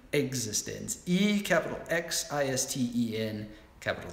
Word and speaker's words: Existenz: And you pronounce it that way because it's spelled differently. Existenz.